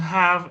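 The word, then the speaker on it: half: media hora decimos hab no se pronuncia la l decimos have es igual a 30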